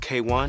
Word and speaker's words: KWN: Yes, it's pronounced K1, not Quinwan, not KWN.